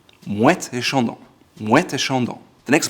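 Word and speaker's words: Moët & Chandon: However, when you pronounce them in a row, it's called Moet Et Chandon. You say the T because there's the A in the middle, and so it's Moet Et Chandon. Moet Et Chandon.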